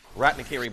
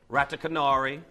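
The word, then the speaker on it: Ratanakiri: a lot of laughs because of the pronunciations we get for the name. Ratakanari, rat in a curry.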